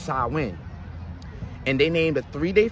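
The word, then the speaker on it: Samhain: a i n but it's not it's not pronounced how it's spelled is pronounced sawin and they named a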